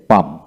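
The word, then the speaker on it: palm: রয়েছে তাই এখানে কাম হলো পি এল এম পাম পি এল এম পাম তারপরে এল এম এস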